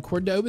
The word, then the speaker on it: Córdoba: The castle in Córdoba, Spain, I'm pretty sure is how you say